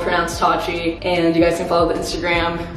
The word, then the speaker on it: Pronounced TATCHI: It's called Pronounced TATCHI, and you guys can follow the Instagram, which